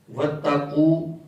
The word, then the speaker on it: وَاتَّقَوْا: ہوئے ہیں، وَاتَّقُوا وَاتَّقَوْا۔ اب اکثر طور پر لوگوں کی زبان پر وَاتَّقُوا کا تلفظ جو بیٹھا ہوتا ہے، تو جہاں پر وَاتَّقَوْا آتا ہے نا تو وہاں پر بھی وَاتَّقُوا ہی پڑھ دیتے ہیں۔ جیسے الفاظ لفظ آتا